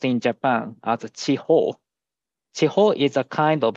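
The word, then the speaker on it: 痴呆: So this is pronounced in Japan as Chiho.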